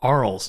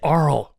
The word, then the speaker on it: Arles: And I was watching one of the hosts say, so now we're going to take you through a tour of Arles. I'm like, that's it. It's Arles.